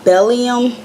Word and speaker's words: bdellium: doing a review on I believe it's pronounced belly um tools I'm gonna link it